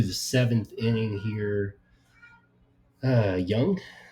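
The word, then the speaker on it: Jung: seventh inning here uh young j-u-n-g is how you pronounce it Young just continuing to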